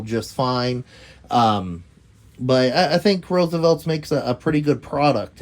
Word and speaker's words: RSVLTS: You know, go check out Roosevelt's website. And that's spelled RSVLTS.